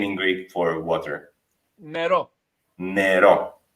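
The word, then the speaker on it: νερό: Nero. Nero. Like Nero for black in Italian. So for us it's Nero. Nero. Yeah. Always the accent is on the end of the word many times in Greek.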